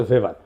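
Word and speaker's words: Weber: আরেকজন দার্শনিক আছে ম্যাক্স ভেভার এটা ওয়েভার বলে অনেকে এটা উচ্চারণ আসলে ভেভার তার একটা লেজিটিমেসি এবং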